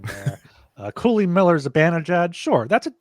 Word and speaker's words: Cooley: Apparently, it's pronounced Cooley.